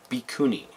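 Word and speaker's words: Bhikkhuni: But you can actually tell how it's supposed to be pronounced because there's Japanese underneath it. There's kana anyway, which is has set syllables. So it's Bikuni is what this is supposed to be.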